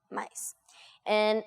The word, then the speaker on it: Maisa: Plus, in Portuguese, it's mais. Mais. And it's the plus sign we use in math and stuff. And my name is Maisa. So in Brazil, we pronounce A as A. So, mais A. Okay. Which is Maisa.